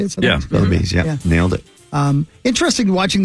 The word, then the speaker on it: Sotheby's: Sotheby's, yeah.